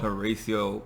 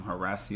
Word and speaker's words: Horacio: save um fessie called Horatio Horacio boyfriend number two I keep calling him Horatio but I heard them calling him harassey on the show so I've been pronouncing his name wrong I believe um Horacio